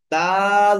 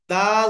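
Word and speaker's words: دال: জিহ্বার আগা সামনের উপরের দাঁতের গোড়ার সাথে কি করতে হবে, লাগিয়ে দাল হরফটিকে উচ্চারণ করতে হবে। কিন্তু দেখেন, দাল হরফটি যখন শব্দের শুরুতে আসবে তখন কিন্তু এভাবে আসবে।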